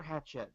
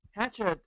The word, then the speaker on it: Hachette: I've heard it pronounced both ways. I prefer Hachette personally, just because it sounds like burying the hatchet. But Well, it's a French company, so it's probably Hachette or I something. know it's probably something, but then again, this is New Orleans.